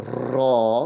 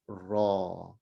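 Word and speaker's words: ر: Don't say the raw, which is a little too much rolling, right? On the tongue. So less of that rolling. It is a raw. It's like an R, but it's pronounced with a vowel in it.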